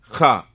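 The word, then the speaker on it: خاء: மேல ஒரு புள்ளி வைங்க, ஹா. இது ஆங்கிலத்தில் எப்படி சொல்லலாம்னா KHA எழுதி பயன்படுத்துவாங்க. தமிழ்ல இது ஈக்குவலான லெட்டர்லாம் கிடையாதுங்க. ஹா ஏன்னா காரி சொல்றது, தொண்டையிலிருந்து வரக்கூடிய எழுத்து ஹா அப்படிங்கிற எழுத்து.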